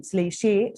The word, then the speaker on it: Zlateh: So it can be pronounced as Zlateh and Zlateh. You can, when you Google, you can see two types of pronunciation. But since it's a German Jewish word, it would be better if we pronounce Zlateh the Goat.